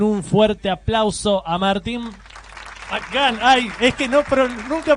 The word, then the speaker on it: McGann: Por favor, reciban con un fuerte aplauso a Martín McGann. Ay, es que nunca pronuncié un apellido como, bueno, sí, McCarthy. O McDonald's, ahí está, pero es McGann. Es McGann, es ascendencia irlandesa.